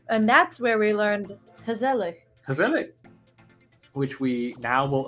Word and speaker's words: gezellig: owl was saying, no, this is how you pronounce it. And that's where we learned gezellig.